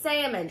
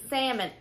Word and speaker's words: salmon: It's salmon. It's salmon. But my body, for some reason, puts the L in it.